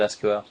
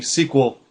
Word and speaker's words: SQL: some people pronounce it SQL that yeah some people will say the whole acronym but generally squel uh I had I